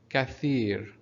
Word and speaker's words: كثير: Under tha here we're having this is called kasra, and that's why we're pronouncing كثير. Again, the letter after tha here, it's called ya, and it's responsible for elongating the sound of tha, of kasra here.